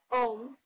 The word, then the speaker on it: Om: Om, pronounced A-U-M, Om, is the eternal sound of creation.